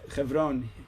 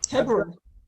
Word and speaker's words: Hebron: How do you say Chevron? Hebron.